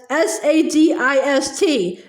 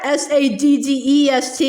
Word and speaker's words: sadist: That's S-A-D-I-S-T, not S-A-D-D-E-S-T, you know, Charles Wallace said, and giggled again. Lots of people don't pronounce it correctly.